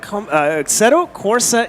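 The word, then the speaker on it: Assetto Corsa: big news coming in the New Year aceto aceto Corsa Evo Evo Evo EV so Italian I I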